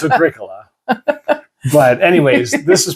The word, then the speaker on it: Agricola: Because you're like, we don't know how it's pronounced. Oh, well, we do. It's Agricola.